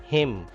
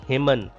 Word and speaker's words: hymn: Hymn. Hamd को भी कहा जा सकता है उर्दू में. Hymn. It is not hymn. Hymn.